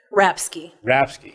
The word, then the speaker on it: Rapske: Rapske.